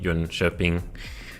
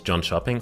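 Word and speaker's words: Jönköping: 13 to 15 em in John shopping obviously not J shoing obviously the pronunciation is John shopping come on guys and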